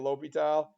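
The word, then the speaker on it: L'Hôpital: His name when he was alive was that, and he changed it to not have the S in it anymore. It's weird. Okay, so it's La Hospital's rule, but we can go with L'Hopital.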